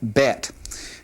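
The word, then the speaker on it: בית: But the difference that the letter makes with the dot in the middle and without the dot is it just has a slightly different sound. In this case, the letter with the dogation in it has a definite B sound. And then without the dogish, the the letter bet has more of a V sound.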